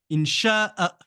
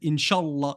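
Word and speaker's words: إن شاء الله: Insha'a. Alors que si je colle le Inch'Allah comme certains le font, on pourrait croire qu'il n'y a pas de Hamza et qu'il faut tout prononcer d'une seule traite. Inch'Allah, Inch'Allah, Inch'Allah, Inch'Allah.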